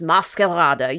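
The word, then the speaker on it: Maskarade: Chicago premiere of Carl Nielson's Mascalada. Yes, that's how you pronounce it in Danish.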